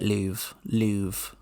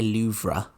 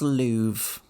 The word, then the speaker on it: Louvre: So you do say it Louvre. You don't pronounce the R. You don't say Louvre. You were going to pronounce the R, weren't you? Maybe you'd know if you'd been there. It is Louvre.